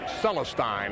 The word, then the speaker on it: Celestine: Celestine actually is the pronunciation of that he's from Los Angeles